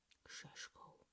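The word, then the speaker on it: Šeško: Shashko, that is apparently how you say his name correctly.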